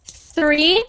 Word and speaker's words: three: free so that is three I want you to actually stick your tongue out of your mouth when you make that th sound like this three three three three